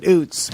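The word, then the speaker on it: Ouzts: But he pronounces it oots.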